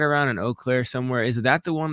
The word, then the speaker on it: Eau Claire: It's pronounced Eau Claire. It's called Eau Claire. Yeah. It's not like it's Eau Claire.